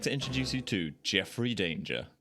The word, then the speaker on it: Danger: And I'd like to introduce you to Jeffrey Danger. It's actually pronounced donger.